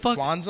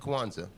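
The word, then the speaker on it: Kwanzaa: syllables and stuff what Kwanza Kwanza is kuanza orza kuanza yeah but you said Kwanza twice what he said kuanza yeah yeah you said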